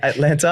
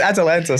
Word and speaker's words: Atalanta: St Gratz taking on Atlanta uh Atlanta sorry Atlanta so after all these I don't want to pronounce the Bundesliga wrong you stumble over at atanta it's Atalanta sorry uh in the the